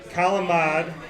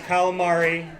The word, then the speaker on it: calamari: Calamad. Yeah. Everybody calls it calamari. That's not how you say it in Italian. It's calamad.